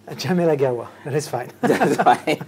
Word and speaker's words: Djamel Agaoua: And tonight, I have the pleasure of having the company of the CEO of Viber, Rakuten, Djamel Agaoua. Did I pronounce that right? Djamel Agaoua.